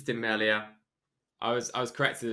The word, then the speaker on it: Tim Merlier: think timeline i mean i don't know if it's pronounced french it's timely if it's pronounced british it's demelia i was i was